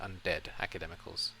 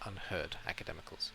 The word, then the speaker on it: Unheard Academicals: So I think I keep saying undead academicals, but it's unheard academicals, yes.